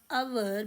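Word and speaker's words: hour: Next sentence, he waited for आवर before living. इसमें फिर आवर में एच साइलेंट, तो एन आवर, 1 घंटा उसने वेट की।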